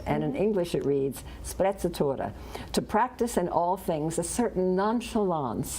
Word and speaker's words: sprezzatura: And I'll just spell it. It's S-P-R-E-Z-Z-U-T-U-R-A. No, S-P-R-E-Z-Z-A-T-U-R-A, sprezzatura.